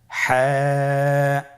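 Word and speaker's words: ح: পরবর্তী হরফ আমরা যেটা শিখব সেটা হলো হা। হায়ের মধ্যে কোনো নোক্তা আমরা দেখতে পাচ্ছি না। হা হরফটি কীভাবে উচ্চারিত হবে? হা হরফটি উচ্চারিত হবে কণ্ঠনালীর মধ্যখান হতে। গলা চিপে ধরে আপনি উচ্চারণ করুন।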